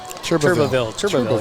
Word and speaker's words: Turbinville: And so how do you pronounce that? Turbinville? Turbinville? Turbinville, yep. And Scanlon back at QB for the Tigers here as we get things underway.